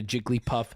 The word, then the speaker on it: Jigglypuff: ] idiots I'm sorry the word ugly has two syllables the word puffy when you combine them into Jigglypuff it becomes a three-syllable word I'm